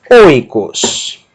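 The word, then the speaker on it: οἶκος: A última sílaba, capa e ômicron sigma, cos. Oikos.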